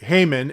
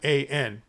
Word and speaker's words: Heman: You can see that Heyman, and the funny thing about this is it's spelled Heman.